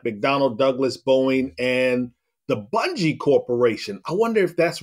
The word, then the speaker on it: Bungie: It is not. It is Bungie with a hard G.